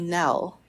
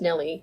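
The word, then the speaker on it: Nelle: annoying it would be if your name is Nell and it's constantly mispronounced as Nelly yes and to have a last name Lee Nelly Lilly yes so yes she dropped it when she published to kill him Mockingbird because people would always mispronounce it as an Ellie and she didn't like that yeah even though it's spelled now like Belle if you look at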